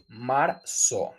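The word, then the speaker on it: marzo: March March Maro and that's also a trick to mention the Z in Spanish it has the similar sound as s in English no matter if you use the Z or S it the same sound okay marel Maro remember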